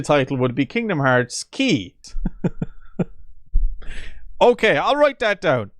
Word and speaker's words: χ: letter x variably pronounced key or chi has as in a martial artist chi etc for this series it is pronounced to rhyme with key which is why the